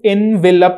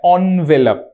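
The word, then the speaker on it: envelope: আচ্ছা, এটার প্রোনাউন্সিয়েশন কিন্তু এনভেলপ নয়, প্যাকেট না। কে আবার প্যাকেট বললো? এই প্যাকেট ফ্যাকেট না, খাম খাম খাম খাম। চলো, তো এনভেলপ হচ্ছে খাম, ঠিক আছে। আচ্ছা, এর প্রোনাউন্সিয়েশনটা কিন্তু এনভেলপ নয়, অনভেলপ।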